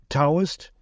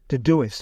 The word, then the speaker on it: Todoist: You can spell that, Taoist, a task management app. It's spelled Todoist. Todoist. Okay, I get it. Todoist.